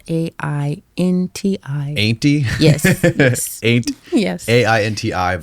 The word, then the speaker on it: Ainti: So it's spelled AINTI. Ainty?